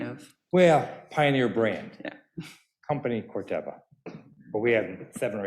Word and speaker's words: Corteva: i just just decided i heard people talk about it being cortiba it's not pronounced that way it's corteba big supporters in the